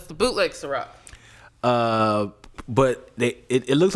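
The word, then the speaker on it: Cîroc: It's the last C is a K. Oh, it's a K in that. Ciroc. Okay. And it's a S, so it's SIROK. It's the bootleg Ciroc.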